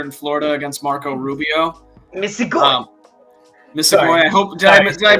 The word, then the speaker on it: Misigoy: The only thing I would nitpick ever with anyone is the hard G sound if they say joy instead of goy, but other than that, you're good.